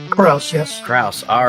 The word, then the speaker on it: Krause: I am here with Matthew it's pronounced Krauss kuss yes Krauss all right and of course I'm